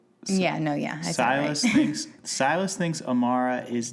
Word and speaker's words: Silas: doesn't know but syus doesn't know that because silus thinks that Amara is like legit dead so I mean wait now I'm saying it wrong yeah no yeah syus thinks syus thinks Amara is dead let's just